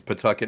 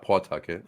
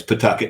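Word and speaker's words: Pawtucket: it's centry not Coventry it's Pucket not PA Tucket yeah it's puet not PA Tucket even though they called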